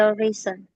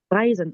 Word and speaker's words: reisen: Ich kann in meinen Beruf viel reisen. Reisen. Oke. Reisen. Ada yang tahu artinya? Ich kann in meinem Beruf Ich viel reisen. Reisen ya. EI itu bacanya I.